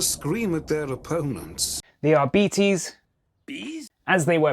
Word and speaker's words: Arbites: It's pronounced Arbites.